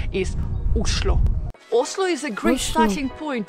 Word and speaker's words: Oslo: of Norway and actually in Norwegian the right way to pronounce the name of the capital isloo is a great starting